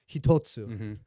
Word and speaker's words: hitotsu: But every single one of these, we're going to start with hitotsu, right?